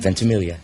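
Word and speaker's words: Ventimiglia: vilia is that how you say his name vilia I did it right how about that are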